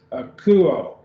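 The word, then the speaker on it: ἀκούω: The omicron upsilon is a diphthong, so it just gets one syllable. Akuo. So there's three syllables, akuo, and the emphasis is on that u because the marker is on it.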